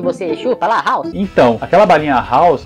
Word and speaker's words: Halls: falar então aquela balinha halls a pronúncia original dela em inglês que você fala hall né porque vende hall de